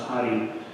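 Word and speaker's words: Radi: You know, I looked on Booking to see if we can get a picture of Doña Hari, was her name, R-A-D-I, pronounced Hari.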